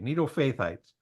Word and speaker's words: Netophathites: And it says they lived in the villages of the Netophathites. Can you pronounce that? Netophathites? Yeah, okay. Netophathites.